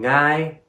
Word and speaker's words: Ngài: And because of the accent going down above the vowel, it goes from ngài to ngài.